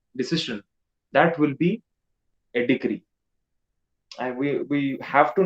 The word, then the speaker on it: decree: it pronounce it as degree it is not degree it is decree i have seen it